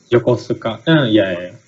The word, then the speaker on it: Yokosuka: I don't think I'm pronouncing that right. Yokosuka.